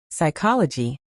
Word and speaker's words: psychology: Night, psychology, debt, receipt. Great. Notice the silent letters in these words. The K in night, the P in psychology, the B in debt, and the P in receipt.